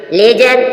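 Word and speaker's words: ledger: डीजी जज मस झाड़ी लेजर लेजर मीस होता है ही खाता लेजर य डी के बाद जी आया है इसलिए डी साइलेंट है जी से पहले जब भी डी आएगा डी साइलेंट होगा बजट बजट मीस होता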